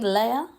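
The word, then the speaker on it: Lea: And then we see Leia, that's how you say her name, revealing that she didn't actually get a date, which I didn't clock onto.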